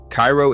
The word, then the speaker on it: Cairo: Cairo is pronounced Cairo by the people who live there, which used to be considerably more people than it is now.